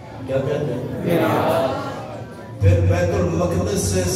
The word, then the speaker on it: بیت المقدس: بیت المقدس لفظ ہے, بیت المقدس نہیں ہے, بیت المقدس.